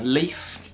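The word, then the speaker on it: Le1f: a riot Boy by Leaf but it's spelled like L e1f but he's a guy well that's yeah I don't it's just but they pronounce it Leaf but um he's one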